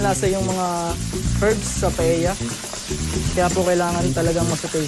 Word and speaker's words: paella: Paella trivia number 2. Alam niyo ba na ang tamang pagbigkas sa paboritong dish na ito ay walang tunog na L? It's not paella, but it's paella.